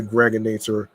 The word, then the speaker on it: Gregonator: I'm your man, aka the Gregonator. Rhymes with now or later, like the candy.